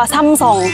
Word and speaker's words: Samsung: บ้าน เรา เรียก ว่า Samsung ใช่ ป่ะ แต่ ที่ เกาหลี เขา จะ ไม่ อ่าน ออก เสียง ว่า Samsung นะ เขา จะ อ่าน ออก เสียง ว่า ทำ ส่อง นะ คะ เป็น ซอง นะ ทุก คน เผื่อ ใคร